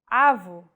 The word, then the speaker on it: avo: If said with a closed vowel, it would mean grandfather, and with no accent at all, avo. The stressed vowel now is the first one.